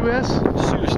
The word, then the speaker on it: Seuss: say your last name Seuss like Dr Seuss Dr Seuss man